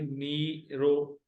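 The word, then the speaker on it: نيرو: तो उसको बोलते हैं सिंधी में नीरो। नी, नून और ये जेर के प्रोनाउंसिएशन के साथ मिले हुए, नी, रे और वाव जबर के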